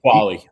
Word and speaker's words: Qualley: Is her last name Qualley or Qualley? Qualley.